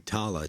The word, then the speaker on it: Tala: Is it Tala or Tarla? Tala? Let's see. Tala. Tala. Tala. I know everyone has kind of a British accent, so it sounds they could be saying Tarla and pronounce it Tala, for all we know. But yeah, it's in the credits as Tala.